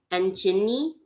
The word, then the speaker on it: Angenie: It means herbs, but I'm pretty sure the G came from like when they pronounce my name in Khmer, it's Angenie, so they take the like a little bit of the name out.